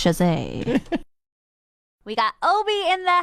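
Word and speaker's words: Chasez: anything for anyone because nobody knows how to say his last name but if you ever are in a trivia it's Jose we got Obi in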